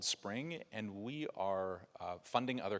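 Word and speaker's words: Xpring: was maybe two days ago, a program called Spring. It's pronounced, it's spelled X-P-R-I-N-G. All of our products say X in front of it. I don't know. But it's called Spring, and we are funding other companies that could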